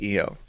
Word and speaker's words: Io: see them saying like, oh, I-O is actually pronounced E-O, but no. That's like saying like, I don't know, Jupiter's pronounced Jupiter. Yeah, I would have preferred Io. I think Io sounds way cooler, but EO is what we got.